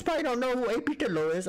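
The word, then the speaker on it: Dhillon: Dillo is, or his name's A.P. Dillon. Okay, but we say Dillo, that's how we pronounce it.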